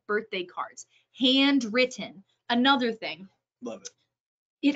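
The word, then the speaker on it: Handwrytten: There are services like handwritten. The written is spelled WRYTTN, handwritten.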